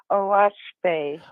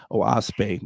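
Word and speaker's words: Oahspe: it's spelled o a s p and it's pronounced oash oase I wanted to make sure I didn't want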